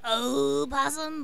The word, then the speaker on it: opossum: Oh, my name is the Possum, but it's really opossum, but the O is silent.